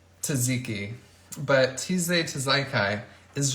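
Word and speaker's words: tzatziki: it into something positive like I do I mispronounce words because it's funny um like TJ tizekai I know how to say taziki but Tuesday to zaikai is just so fun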